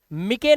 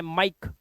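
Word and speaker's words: mike: तो इसे हम पढ़ेंगे लाइक, लाइफ, शेयर, शेरे नहीं, मिके नहीं पढ़ना है, माइक, ई भूल जाओ, बाइक, बिके मत कर देना, बिके, फटे, फटे नहीं है, सिर्फ फैट, सिर्फ क्या है?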